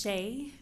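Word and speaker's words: Shae: your name please thank you my name is Shea s-h-a-e middle name and maiden name s-a-n-d-e-r-s-o-n last name is pronounced like Harris with a lisp it's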